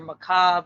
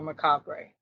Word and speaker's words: Macabre: to but if you the proper way is either maob or Macabre either or but I don't know I I didn't know how you get maob out of it but